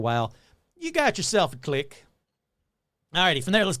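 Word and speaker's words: Tlacique: it like 90 times it's t l a c i qu e and every time I said like how do you pronounce that they go click so the click they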